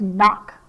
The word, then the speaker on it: knock: n the next word is knock like knock on the door we have k n n a it's an